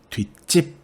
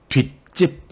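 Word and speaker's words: 뒷집: 가령 아래의 경우를 봅시다 뒤 + 집 발음은 어떻게 되죠 4 뒤 찝 혹은 뒤 찝 이렇게 발음해야 하는데요 이럴 때는 사이 슛을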